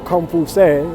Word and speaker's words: Confucius: And if you go way, way back to Buddha and Confucius, or Confucius, as he should be pronounced, the original people, the